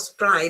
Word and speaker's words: spray: I know in Italian you pronounce it spray, but in English, remember that it's not spray, but it's spray because, well, you play and therefore you spray.